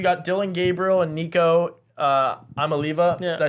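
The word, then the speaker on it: Iamaleava: Then the next few, you got Dylan Gabriel and Nico Amaliva.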